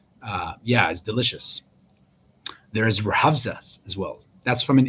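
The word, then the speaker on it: Rooh Afza: would use that, called ruhavza, Rohfaz, just so you guys can pronounce it in your heads, like ruhavza. It could be obviously different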